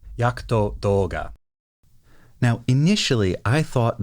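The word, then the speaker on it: Jagd Doga: d o g a you might think that that is supposed to be jaged Doga or yaged Doga in the Japanese it's yakuto yakuto Doga now initially I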